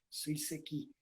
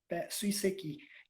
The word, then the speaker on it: Suiseki: A pronúncia no japonês, ela é reta, como a maioria das palavras. Não tem aquele acento em sílaba nenhuma. Né? Suiseki. Suiseki.